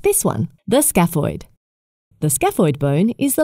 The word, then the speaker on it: scaphoid: of bones with names that are hard to pronounce. Like this one, the scaphoid.